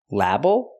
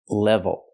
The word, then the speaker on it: level: label she means level first we use a short e sound like red and t e it's more closed it's short not LA but Le level and we have the V so we need the VV sound with the top lip